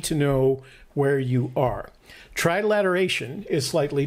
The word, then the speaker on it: trilateration: are trilateration is slightly different from that trilateralization is the need did i say it i'm going to do this you're going to have to correct me every time just so i can start saying it right trilateration yes trilateration is just the